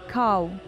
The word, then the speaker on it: كاو: تي الشعير وبتتنطق حنقط الثيران وبتتنطق كاو الطيور وبتتنطق ابيتو